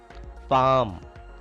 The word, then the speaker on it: palm: Palm. L is silent here.